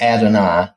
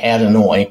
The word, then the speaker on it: Adonai: own Fanatics beside theirs because the guy that pronounces this and I've always heard it as Adonai and this looks like adenoid which is as far as I know not